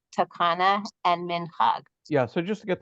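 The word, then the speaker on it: Minhag: Mitzvot de Rabbanan are commonly divided into three categories: Getzera, Takana, and Minchag. Yeah, so just to get the pronunciation right, Gezerah, Takana, and Minchag.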